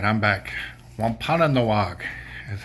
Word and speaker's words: Wampanoag: Wampanoag is how it's pronounced.